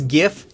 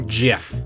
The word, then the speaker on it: GIF: that last one is correct just like it's gif and not jif and i know the creator of the animated